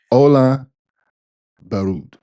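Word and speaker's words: Ole Børud: So pronounce it again, babe. Can you do it twice? See? Ola Berut.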